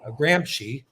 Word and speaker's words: Gramsci: lot about jan uh gramps gramsci is how you say it he did not believe